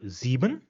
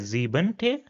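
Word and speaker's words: siebte: Then we have the number zebun which is seven. So as an ordal we will read it as ze which is seventh. So not as zeb rather ze.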